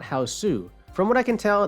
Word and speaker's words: Hausu: title is house not houseu from what I can tell the name houseu was given by the internet because it's how Japanese people pronounce the English word house I think the title